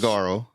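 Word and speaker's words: saguaro: Um do you pronounce this s a gu u a r sigoro cactus? Sigaro. Cigaro.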